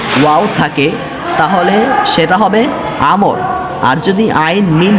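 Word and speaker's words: عمرو: থাকে তাহলে সেটার উচ্চারণ, আইন মিম র এরপর যদি ওয়াও না থাকে তাহলে তার উচ্চারণ হবে উমর, আর যদি ওয়াও থাকে তাহলে তার উচ্চারণ হবে আমর।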